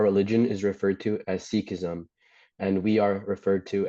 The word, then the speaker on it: Sikhism: Typically, our religion is referred to as seekism and we are referred to as Sikhs.